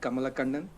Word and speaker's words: Kamalakannan: name and last name, it's pronounced as, Kamalakannan. I know it's still a tongue twister for all of you, so you can just call me.